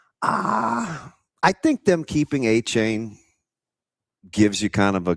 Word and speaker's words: Etienne: Which by the way, how did we go this long with calling Travis Etienne and not A chain? What? Yeah, that's his pronunciation.